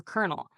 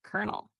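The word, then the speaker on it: colonel: If you see the word though in a book, you might not know it's pronounced though or kernel. Sounds like kernel.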